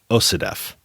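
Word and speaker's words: OCDETF: The DEA runs Organized Crime Drug Enforcement Task Forces, which, when abbreviated, because that's a mouthful of letters, is pronounced OCDEF.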